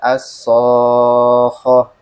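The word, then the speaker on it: الصاخة: Maka tadi ketika kita baca as-sokhoh, ho-nya nggak bertasydid jadinya. Maka harus dinaikin, dinaberkan istilahnya. As-sokhoh.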